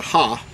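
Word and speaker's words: ה: The second letter is what we refer to, is the second letter here, is in modern Hebrew is referred to as a He, but in ancient Hebrew you would pronounce it as a Ha.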